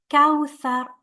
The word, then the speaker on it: كوثر: Ka followed by waw with a sukun. You're gonna have to make your lips rounded here, like when you pronounce the W in English, like wow. Kawthar. This is a tha, not a sin. We can't say kawthar. This is a very common mistake to say sa here.